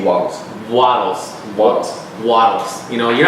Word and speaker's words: Wattles: Now, I always get this guy's name wrong. Can you say it for me just because I... Wallace D. Wattles.